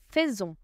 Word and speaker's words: faisons: Je fais tu fais roule tu fais il ont fait letter T fait is silent nous faisons nous faisons letter S over here sounds because linked Faison